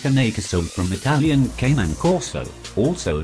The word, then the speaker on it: Cane Corso: Pronounced Cane Corso from Italian Canine Corso, also known as the